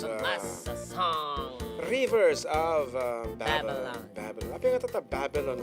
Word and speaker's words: Babylon: Kasi, kita mo, it's a long A, dapat Babylon.